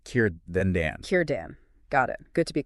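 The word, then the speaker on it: Círdan: For those Elvish names starting with C, we're using that hard K sound. So Kurten is pronounced Kiran, like Kir then Dan. Kiran.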